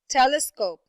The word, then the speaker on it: telescope: right there approximately okay how about the word telescope telescope telescope telescope yes very good it's the first syllable telescope okay how about the